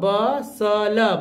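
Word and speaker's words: bustle: एल तो ब ब ब सल बसल टी नहीं पढ़ना ब ब सल बसल बसले नहीं बसल यहां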